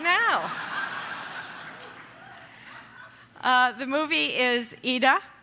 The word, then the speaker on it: Ida: now the movie is eda in English we would say Ida but they pronounce it as you'll see Edith and we're going